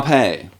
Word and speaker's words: épée: An épée. Épée. So not an apex.